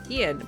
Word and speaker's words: Ein: when I read it when I hear it in the show and I'm like of course it's like Ian but then but then